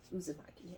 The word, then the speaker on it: Uzumaki: it is um uh uzumaki uzumaki is how you pronounce it but it's a horror